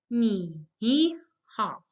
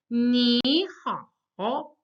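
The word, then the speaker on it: 你好: When you have two third tones together, you can't say ni hao. It's simply that the first third tone becomes the second tone. And that's why I said ni hao.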